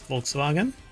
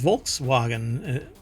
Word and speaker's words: Volkswagen: the common pronunciation uh that is not how you pronounce Volkswagen it's a German word it's the people's car it's but it's Volkswagen okay chipout okay this is